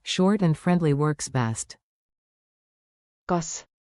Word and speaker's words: kas: kas Sounds like cause.